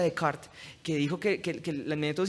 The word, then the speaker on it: Descartes: lo que es un señor de apellido descartes que realmente se pronuncia de carta que dijo que el